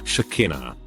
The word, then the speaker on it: Shakina: first name is hius shakina it rhymes with vagina despite my mother's attempts to pronounce it with a long e when I was nine